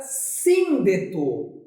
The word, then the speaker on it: síndeto: A sílaba tônica se localiza na antepenúltima posição.